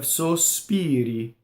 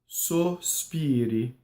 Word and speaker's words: sospiri: You have sospiri, right? So you have a closed O, sospiri.